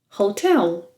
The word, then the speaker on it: hotel: Hotel. Hotel. Yes, with a silent H in Portuguese. O. Hotel. And the U sound.